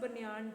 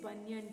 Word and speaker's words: banyan: Don't give that pronunciation banyan tree. It's not banyan tree, it is banyan tree.